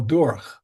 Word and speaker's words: der: Do you pronounce it dur or d? Well, dur.